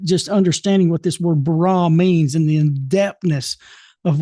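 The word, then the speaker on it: ברא: A, but it's pronounced, with the syllables the way it's pronounced in the Hebrew is bara.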